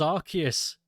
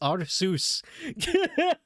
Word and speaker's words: Arceus: well apparently that's how you say it I thought it was Arceus this whole time but it's our Zeus oh that's great monkey one-on-one against our Seuss The Dream dude 95.